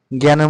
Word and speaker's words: জ্ঞান: সে কারণে জ্ঞানের মধ্যে বৈকে যোগ নিয়ম আছে। সেজন্য এটা হবে জ্ঞান।